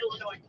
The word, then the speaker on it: Illinois: peeve there is no the s is silent on illinois don't get mad at